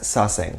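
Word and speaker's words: 사생: They're pronounced in Korean as saesang, so you might hear that phrase being thrown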